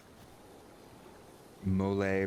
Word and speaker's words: mole: Mole, pronounced mole has traditional Mexican sauce known for its complex flavors and varied ingredients.